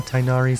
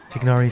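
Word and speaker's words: Tighnari: tinari field tigari field ah why do I keep saying it wrong I used to always say it right and now I'm always saying it wrong and need to correct myself tinari tinari tinar uh tigari tigari tigari let's that in the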